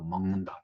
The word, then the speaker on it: 먹는다: 그래서 니은의 영향을 받아서 멍이라는 콧소리, 그 위치에서 나는 콧소리인 멍을 해서 먹는다 이렇게 발음이 되는 겁니다.